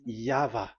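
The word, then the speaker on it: Yahweh: explanation but that is the phonms the pronunciation pronunciation is equal V. It is V. Y H VH. So it is Yava.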